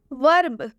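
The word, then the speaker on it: verb: वर्ब वर्ब में आप देख सकते हैं ये जो ई है इसका उच्चारण अ से किया जा रहा है।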